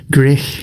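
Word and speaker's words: Gwrych: filmed the video at greer castle didn't we grey castle that's how you say it there you go so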